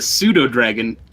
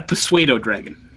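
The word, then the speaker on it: pseudodragon: It's a pseudo dragon, not a persuado dragon.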